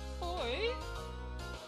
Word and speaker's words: Aoi: Oi? That's how we pronounce it, oi.